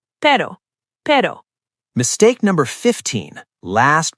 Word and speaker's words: pero: That flapping motion is close to the single Spanish R. Pero, pero, pero.